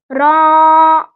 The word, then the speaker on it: ر: را را আমার একটা বদ অভ্যাস হয়ে গেছে কি, আমি যদি কোনো বাংলা অক্ষরও উচ্চারণ করি কোন নাম, তো এইটাও আমার মানে